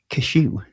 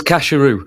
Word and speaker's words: Casheroo: And Cashew, is that how you say it, Ben? Oh, yeah. Yeah. Not like the nuts. It's Casheroo. Casheroo, yes. He asked us to look